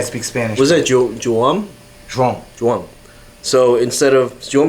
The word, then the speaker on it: João: João? Joam. So instead of Joam is too hard for Americans to pronounce, so he So goes they call by him John.